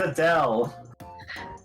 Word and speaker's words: Adele: mother and Bill is it Adelaide or Adele it's Adele oh that don't have it has been pronounced once so far keep in mind the spelling is the singer's name so Adele yep yeah okay uh